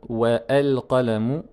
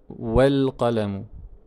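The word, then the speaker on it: والقلم: Par contre ici je ne dis pas wa al-qalamu mais wal qalamu. On va supprimer totalement à la prononciation et on saute directement sur le soukoun du lam.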